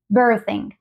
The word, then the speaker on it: birthing: represente la TH pero lo más parecido ha sido la z y nosotros le añadimos una H simplemente para recordarles de que tampoco es la z castellana sino que es una Z más como bir birthing birthing birthing sí